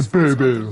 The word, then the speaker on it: Bourbeau: Yeah, Monsieur de Bourbeau. Last syllable.